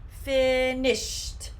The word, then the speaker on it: finished: finished in this case this final ed sound will sound very similar to a t finished are you finished with